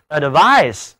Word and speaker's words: advice: advice 这里啊，我们给词根 vis 做了一个小小的变形，变成 VIC，请注意动词建议读音是 advise，SE 组合起来读浊辅音 z，那么名词劝告读音是 advice。